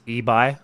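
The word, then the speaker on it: Ibai: close so as gold corrects me myself it's ebi so obviously thank you so much as gold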